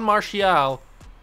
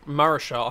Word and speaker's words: Marichal: All right, Nomar, you've already got 2 home runs today going up against Juan Marichal. Or Marichal, however you want to say his name. I think it's Marichal.